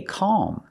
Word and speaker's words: calm: same thing Al M the L is not silent it sounds silent but something's happening there your tongue is curling and moving up but not all the way up it's not a real l sound it's almost an l sound example he needs to